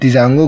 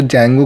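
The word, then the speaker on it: Django: अब डिजांगो को जैंगो के नाम से भी बोलते हैं और डिजांगो के नाम से भी बोलते हैं, तो कंफ्यूज होने वाली बात नहीं है।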